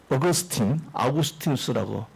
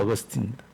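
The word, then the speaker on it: Augustinus: 오늘날 모든 신학의 아버지라고 할 수 있는 이 아우구스티누스라고 라틴어 발음은 그렇게 하는데요. 영어 발음은 어거스틴입니다.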